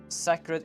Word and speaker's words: sacred: dead that she's dead by the way sacred is a long a not a short oh sacred yes yeah